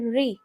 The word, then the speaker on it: ऋ: ऋ की मात्रा का उच्चारण है ऋ। अब बच्चे थोड़ा कंफ्यूज होंगे क्योंकि र के ऊपर जब बड़ी ई की मात्रा लगती है तो इसका उच्चारण और इसका उच्चारण दोनों का लगभग सेम नजर आता है बच्चों को। तो बच्चों को बताना है र के ऊपर जब बड़ी ई की मात्रा आती है तो सॉफ्ट साउंड निकलती है।